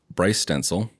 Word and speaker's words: Bryce Stenzel: So introduction today is we have Bryce Stenzel.